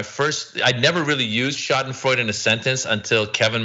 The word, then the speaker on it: Schadenfreude: How do you pronounce that word? Schadenfreude.